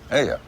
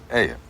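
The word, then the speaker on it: ayuh: Yeah, Aya. yeah. Yeah. How do you spell it? A-Y-U-H. Aya.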